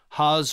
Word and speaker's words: Haas: Haas rhymes with cars.